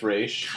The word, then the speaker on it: Ra's al Ghul: How do you say Ra's al Ghul again? Raish. Denny O'Neil said it's Raish.